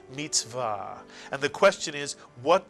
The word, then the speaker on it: mitzvah: And the accent in Hebrew tends to be on the last syllable of a word, so it's mitzvah.